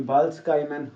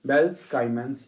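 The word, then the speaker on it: Balz-Schiemann: सी होगी, ये होगी बर्ल्स-स्काइमैन्स रिएक्शन। बर्ल्स-स्काइमैन्स रिएक्शन देखिए प्रोनाउंसिएशन अलग अलग हो सकती है, कई बेल्स-स्काइमैन्स बोलते हैं, कोई बाल्सकाइमन, हम बेल्सकाइमन्स या बाल्सकाइमन रिएक्शन।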